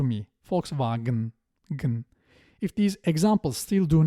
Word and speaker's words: Volkswagen: I should also mention the German pronunciation of Volkswagen. It sounds like a clear Ü to me. Volkswagen.